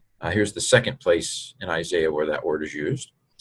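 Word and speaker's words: Ἠσαΐας: This diaeresis here, the 2 dots, indicates that this is not a diphthong. You don't pronounce it as I. It's I-E, which, of course, if you say fast enough, sounds like I anyway.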